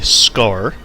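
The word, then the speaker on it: Skaarj: the aliens by name the scar the J is silent as unreal tournament 2004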